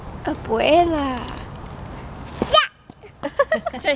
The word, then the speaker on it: abuela: Say, abuela.